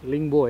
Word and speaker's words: Lingbo: Bacanya apa sih? Ling limbo. Lingbo ya bacanya Lingbo.